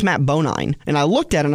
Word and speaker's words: Bonine: And I apologize to the Bonine family. I've been mispronouncing their name as many drivers for a long time, and I finally got it corrected this week. How do you mispronounce Bonine? Well, what did you call it, Bonin? They when I got the original driver's sheet, it was Bonnie. There was no second N.